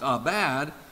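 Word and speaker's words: עבד: it that word for cultivate in Hebrew is pronounced a bad and the word for keeper guard is Shah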